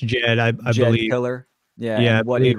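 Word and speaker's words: Djed: familiar with the Egyptian how do you say that word uh Jed it's just Jed killer yeah yeah what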